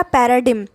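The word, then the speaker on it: paradigm: next शब्द है हमारा परेड में यह जहां पे जी साइलेंट रहेगा और इसे पढ़ेंगे परेडम इसका मतलब होता है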